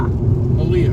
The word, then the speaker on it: Malia: Is your name pronounced Maliga, like E-E? Or is the G silent? Or is it Maliga, like No, or is the G silent, like Cornelia? Or is it Malia? Malia.